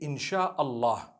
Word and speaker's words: insha Allah: three separate words and when you're saying it you say insha Allah okay so I'm writing